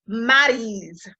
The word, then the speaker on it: Maryse: Excuse me, I keep saying Maryse. It's Maryse, like Drew Brees.